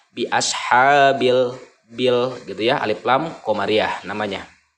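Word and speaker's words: بِأَصْحَابِ الْفِيلِ: ini lift Lam Qomariah dibacanya harus jelas biashabilfil nah jadi ketika menyebutkan lamanya itu terjelas terbaca jelas kedengaran biashabilfil gede Alif Lam Qomariah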